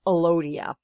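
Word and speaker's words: Elodea: a plant eukaryotic cell this is alodia or sometimes pronounced alodia now elodia are plant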